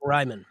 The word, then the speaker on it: Rieman: So, welcome Reman. Thank you. Spelled like Ryman.